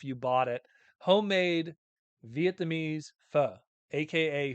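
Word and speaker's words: phở: Homemade Vietnamese pho, aka pho, as some people pronounce it, but it's pho in Viet. Pho. You have to say it like a question mark.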